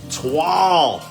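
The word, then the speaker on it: toile: T-O-I-L-E, pronounced Twal.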